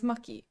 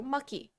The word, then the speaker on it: Machi: I know it says Machi, but his Japanese name is Maki. So I was like, you know what? That makes sense. He's from a foreign country. Maybe CH is pronounced ki there. So Maki.